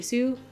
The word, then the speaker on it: Hsu: the name Hsu but I think the H is silent so Stephanie Sue hopefully I said her